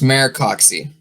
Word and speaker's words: Maricoxi: It's pronounced Maricoxi. Maricoxi? Okay. Mm-hmm. Maricoxi.